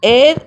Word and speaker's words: heir: Heir, H is silent, so we write an heir to the throne.